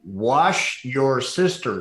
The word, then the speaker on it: Worcestershire: Here, I'll help you. Wash your sister sauce. That's all you got. Okay, wash your sister sauce. Yeah. Oh, when the W, Worcestershire.